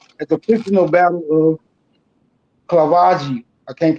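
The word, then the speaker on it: Clavijo: back with more at the fictional battle of klavaji I can't pronounce that word c-l-a-v -i-j-o Santiago was known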